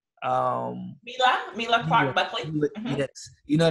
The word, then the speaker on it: Mila Clark: you had, I don't want to pronounce her name wrong. Is it Myla Clark? Mila Clark Buckley.